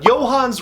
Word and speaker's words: Johannes: the hands of, and please excuse my pronunciation if this is completely wrong, but Johannes Roberts. I think. Johann Roberts? Johann Roberts. The S is silent, I think.